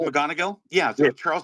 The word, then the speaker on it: McGonigal: How do you Charles spell it? McGonigal? Yeah, so Charles McGonigal, McGonigal, Charles McGonigal.